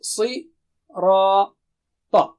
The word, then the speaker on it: صِرَاط: It's thick. And also it's not English ra, no, ra, with low frequency. And ta is again very thick and high. Okay, si, ra, ta.